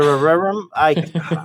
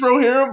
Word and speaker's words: Rohirrim: of the Rings animated movie that I can't pronounce. Lord of the Rerum?